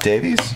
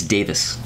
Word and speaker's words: Davies: It's not Davies? It's Davis. What? Get the fuck out of here. That's how you pronounce that. Everybody in the U.S. says Davies, but we're all saying it wrong.